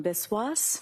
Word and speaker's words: Biswas: Yes, my name is Biswas. My first name is spelled J H I L A M.